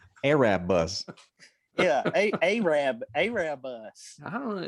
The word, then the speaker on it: Erebus: Did you say Erebus? That's pronounced Arab bus.